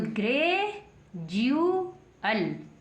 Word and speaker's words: gradual: तो डी को क्या पढ़ेंगे, जय पढ़ेंगे। तो ग्रेजुअल, ग्रेजुअल क्या बन गया, जी फोर गे रे ए जे यू एल, क्या बन गया, ग्रेजुअल।